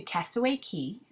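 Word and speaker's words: Castaway Cay: So basically, that day we um, got to Castaway Key, which is spelled Cay, but they pronounce it Key in the Bahamas.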